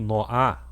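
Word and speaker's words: נֹחַ: Noé, em hebraico, Noá. Noá quer dizer descanso, conforto. Se escreve Nun e Het.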